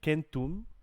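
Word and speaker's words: centum: have quote philly philia which is actually kentum if we pronounce the c correctly means a hundred so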